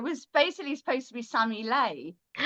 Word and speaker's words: Sammie Lei: Um so yeah, it was basically supposed to be Sammy Lei. Oh. But people kept pronouncing it Sami Lee.